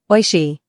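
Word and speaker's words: おいしい: How do I say delicious in Japanese again? Oishi. Try saying it with a smile. Oishi. Did I say it right? Yes.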